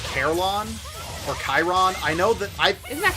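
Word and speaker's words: Charon: But yeah, so for the boatsman to the underworld, I've heard it Karen, but I think that's the Roman pronunciation. Chiron and Carlon. Chiron is how it's pronounced in Evermore.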